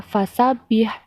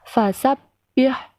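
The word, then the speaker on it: فَسَبِّحْ: kalian Perhatikan ya adalah huruf yang bertasydid cara membacanya yaitu dibaca rangkap atau ditekan tidak di Khan contohnya vasap yah jadi ditekan Bukan dibaca fasabbih tapi vasap yah begitu juga pada lafadz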